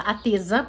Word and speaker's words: Teca: E as partes que eu mais gostava eram as partes que a Teca, que na verdade fala Ateza, porque o C pronuncia com som de Z.